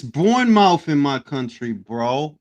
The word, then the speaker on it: Bournemouth: It's pronounced born morph. It's born mouth in my country, bro.